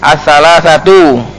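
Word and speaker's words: الثلاثةُ: Wa huwa ahruful illah as-salasah, ahruful illati as-salasatu. Bacanya itu as-salasatu karena dia naat dari ahruf, bukan dari al-illah.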